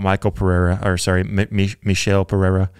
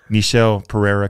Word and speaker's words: Michel Pereira: the middleweight, that division, talking about Michel Pereira, I think is how he pronounces his name. Apparently I've been pronouncing his name wrong this entire time. But Michel Pereira comes out.